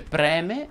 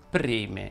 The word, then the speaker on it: preme: bisogna sapere pronunciare ebbene con la è aperta si dice preme e non preme tra l'altro il verbo